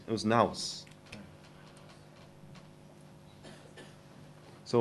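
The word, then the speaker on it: ναός: 这是 It's pronounced. It was naus.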